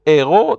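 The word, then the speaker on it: héros: Remember, heroine, the H is silent, but for hero, the H is not silent simply because we don't want to say zero.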